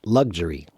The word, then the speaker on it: luxury: luxury lug Jer e if you say it quickly it's pretty much that luxury luxury luxury luxurious luxurious so yeah when you say it quickly even the other word becomes lug juror yes okay all right